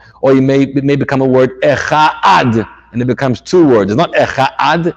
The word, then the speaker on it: echad: So you have to be very careful about pronouncing the dalid, and careful not to mispronounce the ches to turn it into two words or mispronounce the word. You have to be careful to pronounce this word properly.